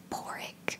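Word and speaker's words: Pádraig: Patrick in Irish is Porrick, which is written with a D.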